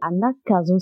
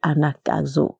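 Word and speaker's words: Anagkazo: Anakazo s'écrit A-N-A-G-K-A-Z-O.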